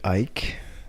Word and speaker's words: Eick: my name is ike e-i-c-k it's pronounced like mike and ike like the candy i am a writer